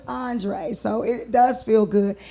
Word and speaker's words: Andree: And then they want to change my name to Andree, and I'm like, no, it's Andree.